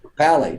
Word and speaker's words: Papale: Vince Papale.